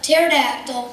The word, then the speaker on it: pterodactyl: can't you hear a pterodactyl go to the bathroom I don't know why because the PE is silent peace